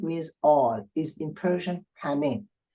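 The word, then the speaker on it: همه: This word means all, is in Persian hame. The first he is pronounced ha, and the second not, hame.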